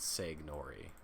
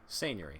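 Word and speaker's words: seignory: It's not Segnori. That's got to be some kind of... We looked at all of the parts and we concluded that this might be how it's pronounced. Hold on. Come on, Merriam-Webster, don't do this. Seigneury. Okay, yeah. That makes a lot of sense to my mind. Seigneury. It is spelled S-E-I-G-N-O-R-Y. Seigneury. It is lordship or dominion, or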